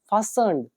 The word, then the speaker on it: fasten: द सैक वॉज नॉट फास्टन्ड, जो बोरी है वो फास्टन्ड नहीं थी। फास्टन का मतलब क्या होता है, हमने एक वर्ब पढ़ी थी फास्टन, FASTEN, टी साइलेंट होगा।